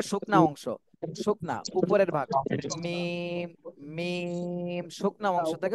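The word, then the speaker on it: ميم: আরেকবার বলেন, উচ্চারণটা শুনতে পাইনি। মিম।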